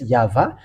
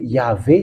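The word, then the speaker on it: יהוה: However, we have found in the Hebrew Bible that it's YAHVAH. The first shape was Yah and the second shape was Va. So why it changed to Yahweh just like that? So we say that Yahweh is wrong because what did they do? This is for a Roman Catholic. So from here it's false. For you who are watching the picture, from here it's false. Yahweh and Jehovah are false.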